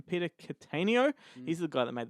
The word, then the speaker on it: Cattaneo: Fleming's in that one that's directed by Peter Cuttino I think that's how you call it say his name Peter Cattaneo he's the guy that made the full monty